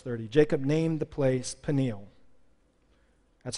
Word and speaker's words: Peniel: last verse verse 30 Jacob named the place Peniel that's how you pronounce it but I'm gonna change the pronunciation